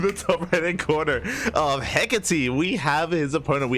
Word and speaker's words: Hecate: Yeah, Hecate. Hecate. Yeah. On whose authority? Mine. Okay. I mean, you know, I googled the pronunciation because apparently it's it's Hecate and Alcyone, the two maps where they're named after Greek goddesses.